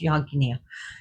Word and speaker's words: yajna: So, with their magic and their yagna fire, it's spelled yajna, but it's pronounced yagna, and the sacred fires, out came a tiger to rush after Shiva.